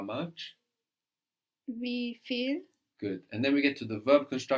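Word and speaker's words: viel: Feel is spelled V I E L. V I E L. And of course the V gives us an F sound like in to understand feel.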